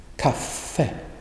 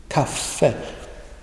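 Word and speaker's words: café: the jungle and then the short sounding ah you have it in this example the the second word here cafe cafe cafe you pronounced it with a very short up cafe and once you learn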